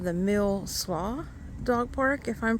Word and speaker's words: Mill Slough: This is called the Mill Slough Dog Park, if I'm pronouncing that right.